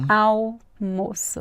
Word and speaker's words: almoço: Mas a pronúncia, gente, não tem som de L. Au. Alface. Almofada. Almoço.